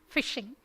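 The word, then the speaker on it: phishing: piece which we call fishing right spelt as pH but it's pronounced as F typically and literally fishing so when you receive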